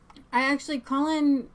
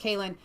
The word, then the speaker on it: Kalen: Yeah, and Colin was on InfoWars today, and I think I just closed out my video. Colin is, and I think guy. It's Kalen. His name is pronounced Kalen, is Tommy's kind of right-hand man.